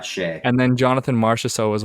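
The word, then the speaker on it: Skjei: I say Shea, but Brady I don't know if Shea. that's right. Yeah, Shea.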